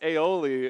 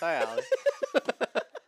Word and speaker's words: Ayali: I think it's pronounced Aioli, and it made me laugh so much. No, it's Ayali.